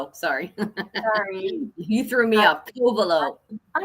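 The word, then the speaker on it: Covelo: Kovaleo. I'm sorry. It's all right. Say say big co and the rest are little. Kovaleo. Okay. Like like a sea cove. Kovaleo.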